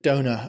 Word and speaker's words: Dona: i a yes yeah so we pronounce it Donna but actually sort of donor I suppose uh and you had